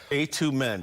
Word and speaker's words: A²MEND: And last thing, A²MEND, right? A, the number Yes. 2, MEND. correct, Yeah, but the 2 is silent.